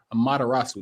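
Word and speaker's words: Amaterasu: am a how do you say aarasu a matarasu there that's what I mean like that's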